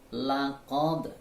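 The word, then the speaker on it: لقد: Laqad, ya di sini ada qalqalah ya.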